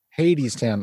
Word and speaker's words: Hadestown: ghost yeah so is it pronounced haidstown or hattiestown how do you say it hades town i'm an idiot so